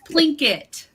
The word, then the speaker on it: Plinqit: of all about the name plinkwit did I pronounce it correctly it's blinket so like Plinko except for blinket who came